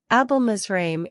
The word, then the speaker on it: Abelmizraim: how do you pronounce this word let's break down the pronunciation it's easy Once you know it let's hear it album israime is how you pronounce album israim if you find this video